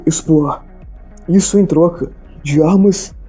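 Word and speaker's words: Espoir: Ele Bino de Gonevilo, no caso Binô Palm de Gonevilo, estava a bordo do navio chamado de Expoar, que para quem não sabe se escreve S P O I R.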